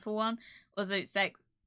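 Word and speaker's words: CeX: and yes before anyone asks uh it is pronounced uh sex over here no nobody calls it that except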